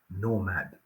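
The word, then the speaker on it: knowmad: belongs to the new creative Nomad and please note how the world is spelled k n o w m a d who are these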